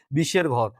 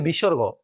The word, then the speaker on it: বিসর্গ: তারপরে আমি লিখেছি বিসর্গ। এই বর্ণটার উচ্চারণ হবে বিসর্গ। বাচ্চারা বা স্টুডেন্টরা এটা ছোটবেলা থেকে শিখে আসে বিশের ঘর। আসলে এরকম কোনো বর্ণ নেই, এটা হচ্ছে বিসর্গ।